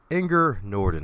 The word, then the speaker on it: Inger Nordin: to go in the wonderful intelligent and natural anger Norton how you doing today anger thank you for